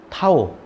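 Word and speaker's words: τ: 예, 요거를 뭐라고 읽냐면 타우라고 읽습니다. 타우. 예.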